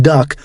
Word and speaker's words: DUKW: This force more than 3,570 vessels larger than individual landing boats such as the LCVP, landing craft vehicle personnel, and the legendary DUKW, pronounced duck, amphibious truck, and Amtrak